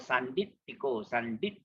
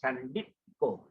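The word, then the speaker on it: sandiṭṭhiko: And then T with the dot below is pronounced as normal English word top. And it's called Sanditiko. Yeah, Sanditiko. So your T hit the palate. Sanditiko.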